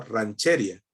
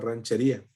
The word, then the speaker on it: ranchería: Y ranchería, pues de todas maneras, lleva tilde, es un hiato, ¿sí? Como la vimos hoy. Tenía una tilde, entonces ella pues asumía y hubiera pronunciado, si hubiera manejado las reglas de español, hubiera pronunciado rancheria, ¿cierto? No ranchería, porque de acuerdo a las reglas del español, el acento debería ir en otro lado.